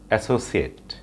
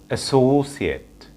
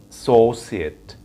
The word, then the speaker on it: associate: আমরা এই ওয়ার্ডটির pronunciation করে থাকি associate. So this is a wrong pronunciation. The right pronunciation of this word is associate, associate.